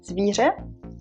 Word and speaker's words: zvíře: Remember from the last video the word zvíře, an animal. We'll practice with this word. So there are three things that you need to do. You will put your teeth, your jaw together like this, okay?